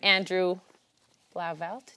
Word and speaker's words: Blauvelt: And next to me, we have Andrew Blauvelt. Did I say yes. It right? Yes. We talked about this pronunciation.